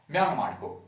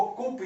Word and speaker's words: coup: द्वारा म्यांमार में कू किया जाता है। इसको ध्यान से देखिएगा, इसको कुप या कॉप ने पढ़ते हैं, इसको हम लोग क्या पढ़ते हैं, कू। यहाँ पे जो ये पी है ये साइलेंट है।